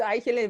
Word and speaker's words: Aichele: Did I pronounce that right, Susan? It's Aichele, but it's good enough.